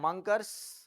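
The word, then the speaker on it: Munkres: হ্যা মাংকারস জেমস আর মাংকারস বা মুংকারস যা খুশি উচ্চারণ করতে পারো।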